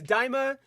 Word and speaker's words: Daima: Yeah, it's Daima. I know that's how it's spelled.